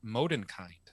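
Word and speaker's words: Mondenkind: language Bastian names her moden kind which means uh moonchild now modern kind has three syllables whereas moonchild only has two instead of filming two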